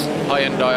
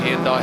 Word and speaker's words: Hyundai: die I can't remember I mean it's Hyundai I might have said here and die here and die but it's not an American brand is it no no